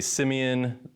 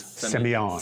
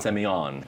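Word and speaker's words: Sémillon: here because you're saying Semillon, I wanna say Simeon. We're gonna get into a lot of like Planet of the Grape puns. This is gonna be something else. I am not French, but the pronunciation is Semillon. Semillon, Yes.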